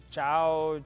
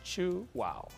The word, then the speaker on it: Chuao: know we find that many people have a hard time saying Chua they say CH Chow ch Chihuahua all kinds of things and to help him say it correctly we tell him to think that you chew and then you say wow chew wow and if it's not